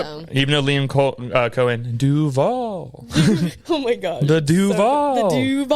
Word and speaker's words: Duval: You put the emphasis on the wrong part, but it's okay. You got to put some bass in your voice. You got to do the Duval. Like, you can't be doing Duval.